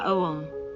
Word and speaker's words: Aum: This mantra is pronounced properly opening the mouth with the vowel A, rounding it off with the vowel O, and closing it with the letter M, like this Aum.